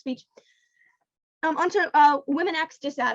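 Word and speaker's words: womxn: um on to uh women acts just out i'm going to be perform uh pronouncing the word w-o-m-x-n as women acts just to differentiate from the word women with an e or an a um women x is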